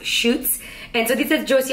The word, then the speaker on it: Schutz: it's so funny because for the longest time I call this brand shuts I guess it's pronounced chutes and so these are